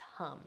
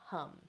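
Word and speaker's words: ham: And then for the throat is hum, H-A-M, pronounced hum, hum.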